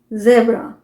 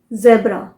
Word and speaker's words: zebra: अभी एक animal name है ZEBRA, ज़ेब्रा। ज़ेब्रा British pronunciation है, अमेरिकन प्रोनाउंसिएशन है ज़ेब्रा। ज़ेब्रा क्यों है, क्योंकि आजकल अगर आप देखें तो Z जो होता है ना, उसे Z प्रोनाउंस करते हैं, Z। सो Z क्या है, अमेरिकन प्रोनाउंसिएशन है, इसलिए ज़ेब्रा। ज़ेब्रा।